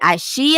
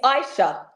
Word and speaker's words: Ishea: your name name right is it AIA AA it's Aisha Aisha I didn't even get